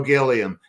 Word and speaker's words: Gilliam: Uh Joe Gilliam. Joe Joe Gilliam was a great quarterback. Although I think his name he wanted his name pronounced Gillum.